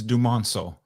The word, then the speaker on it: Dumonceaux: Can you give me the pronunciation, on your last name, please? Absolutely. It's Dumonceaux. Dumonceaux.